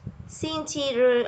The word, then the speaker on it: 星期日: And Sunday is an exception. It gives us two choices. We can pronounce this as 星期日 or 星期天.